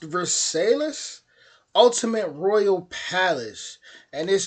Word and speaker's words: Versailles: I want to say this is pronounced Versailles, Ultimate Royal Palace.